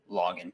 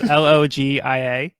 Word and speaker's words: Logia: that the Rumble fruit is the most powerful login type. Did I say that right? Did I pronounce that right? So it's a Logia. Logia? Mm-hmm. Oh shit, I just wrote that down wrong. Yeah, so it's Logia, which is the third type of devil fruit